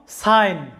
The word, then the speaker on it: sign: একইভাবে এই শব্দটি দেখো, সাইন। লক্ষ্য করো, সাইন এখানে কি আছে, যে SIN, সাইন। জি এর উচ্চারণটা এখানে সাইলেন্ট আছে, অর্থাৎ জি এর কোনো সাউন্ড আসে নাই।